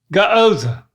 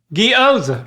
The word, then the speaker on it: gyoza: The letter Y, replace that with 2 E's, but then keep the hard G from God. Giza. And then add the O. Gyoza.